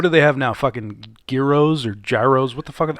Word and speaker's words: gyros: I think pronounced Gyros, euros, heroes. I don't know the official pronunciation, It's euros.